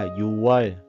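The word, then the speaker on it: 유월: Nhưng mà bắt buộc là phải được đọc và viết thành chữ yu wơ nó mới đúng.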